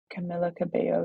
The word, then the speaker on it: Camila Cabello: don't love Camila what's her name Camila Cabello Camila Cabello yeah is that how you say her name